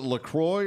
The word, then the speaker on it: LaCroix: family friends how do you how do you pronounce look is it Lacroix or look wha water it's Lacroix hey